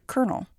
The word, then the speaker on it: colonel: us to understand the peculiarity of the word kernel from italian origin kelowna translating to column or